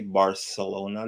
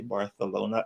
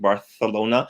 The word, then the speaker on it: Barcelona: a lisp it's like barcelona so barth so this the c the c e l is pronounced almost like a t h no just the c pronounced the c is pronounced like a th right barcelona yeah super